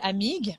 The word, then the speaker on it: Amigues: Amigues. We don't pronounce the UES at the end.